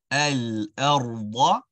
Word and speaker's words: الأرض: You want to ensure that the letter ra and da are pronounced beautifully. Nice, awesome sounds. Very good. The letter hamza is an a. It's an al-a. Al-a. Al-arda. al-arda. So you're going to keep your tongue flat for the hamza, right?